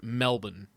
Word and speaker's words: Melbourne: out sounding right, but Alex says Melbourne is pronounced Melbourne. And and I like I get the R.